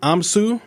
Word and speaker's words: Amsu: Now, am I pronouncing it right? Amsu? Yep, that's exactly right.